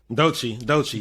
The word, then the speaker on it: Doechii: So shout out, how you pronounce it? Doechii? Doechii.